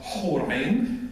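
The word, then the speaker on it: حور عين: Luxembourg 2000 suggests that Horain, which in Arabic is pronounced Horain with an expectoration. If you expectorate as an Arab, you know that you need to learn to expectorate. So Horain, not Hor, but Hor.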